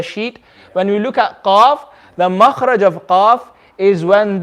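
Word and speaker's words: ق: the strength as well everyone say with me cough say after me cough cough oh good exactly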